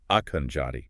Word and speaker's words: Akhenaten: There's even that alternative pronunciation proposed, Akhenjati.